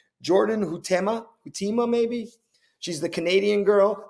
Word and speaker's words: Huitema: up her name, Jordan Hutima maybe. She's the Canadian girl. The first time I saw Jordan Huitema. How do you say it? Jordan Huitema. Huitema.